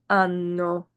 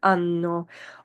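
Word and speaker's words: hanno: ab y'all have loro ano they have note with the two ends there's a little emphasis there ano also that the letter H at the beginning of a word is silent.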